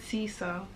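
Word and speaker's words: Cesere: Caesare, one of the temples of Akramoth. I would have said Caesar. I would have said Caesar. Oh, so it's Caesar. Great, beautiful, brutal wings, membranous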